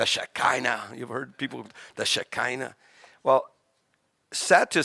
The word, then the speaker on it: shekinah: kavod the kavod adonai the shekinah or the shaheena in a hebraic pronunciation is a feminine word